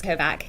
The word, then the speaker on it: Kovac: Good afternoon, Miss Kovac. Can you state your name for the jury, please, and spell it for the court reporter?